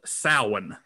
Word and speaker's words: Samhain: would celebrate something called samhain which is not spelled the way it's pronounced it's s-a-m-h-i-a-i-n um so